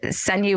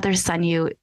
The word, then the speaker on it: Ssanyu: And Ssanyu was new, and she had said to me,